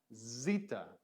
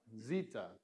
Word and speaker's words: zeta: letter we learned was Zita Zeta and this is a z sound just a strict z sound in modern Greek pronunciation and so we have